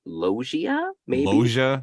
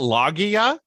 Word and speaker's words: Loggia: how you say it like i've never heard robert loggia yeah totally it's not logia so um and speaking